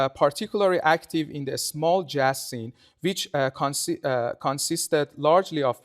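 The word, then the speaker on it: جاز: It must be noted that in Persian, the word jazz is pronounced as jaz and refers to the drum set, because the primary instrument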